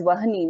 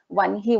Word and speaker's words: Vanhi: We won't pronounce that as Vahani. We say that as Vanhi only.